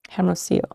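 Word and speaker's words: Hermosillo: would probably it up is the l yellow is pronounced like a y sound right so that's four so it's like armacio probably i'm just assuming that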